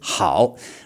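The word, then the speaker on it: 好: A word in this tone that you will often hear just said on its own, okay? With no other word directly before or after to cause a tone change, um is the word that they often use for yes in Chinese, hao, which it actually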